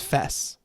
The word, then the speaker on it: FES: who wrote the lyrics you pronounced it like the first half of Festival supposedly her real name wasn't out oh so it's Fess cuz I let's say